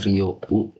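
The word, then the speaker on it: 利用: Nah kalau konteksnya kalian mau menggunakan jasa itu pakai Rio U kay gitu ya. Itu cara bacanya Rio U.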